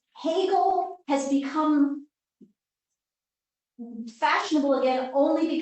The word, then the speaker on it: Hegel: and journey now is and in German it's Hegel has become fashionable again only because he's been